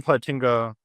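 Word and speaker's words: Plantinga: Um it's by Alvin Platinga. I think think that's how you pronounce his name.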